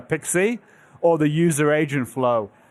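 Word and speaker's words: PKCE: The web server flow with proof key uh for code exchange, commonly uh pronounced uh Pixie, or the user agent flow.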